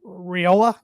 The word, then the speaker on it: Raiola: They do have Boy Wonder, as their fans are calling him, 5-star freshman Dylan Raiola, I believe is how you pronounce his last name. Raiola.